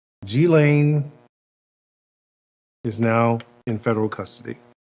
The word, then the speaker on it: Ghislaine: I want to make sure I pronounce her name correctly. Ghislaine is now in federal custody.